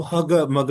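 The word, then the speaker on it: hugger-mugger: तो हग मग यानी कि आगे आर को साइलेंट कर देना है।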